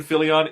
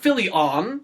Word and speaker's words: Fillion: be i love nathan phillion it would be extremely distracting can we say his name like that everyone says his name is nathan it's not philly on okay jesus yeah you